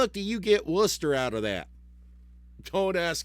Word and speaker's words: Worcester: That and if you ever see how Worcester is spelled if you're not in Massachusetts, you're going to go and call it how far is Warchester. I don't know, but it's called Worcester.